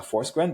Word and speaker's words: Forsgren: So I I gave you I gave the the English pronunciation which is a forsen but um can you please share the the Swedish pronunciation?